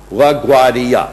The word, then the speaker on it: LaGuardia: cab, and I said, LaGuardia. LaGuardia, 4 syllables.